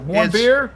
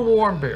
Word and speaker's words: Warmbier: Actually, it's not. It's not Warmbier. What is it? Warm beer? Warm beer. All right, warm beer. Just remember warm beer.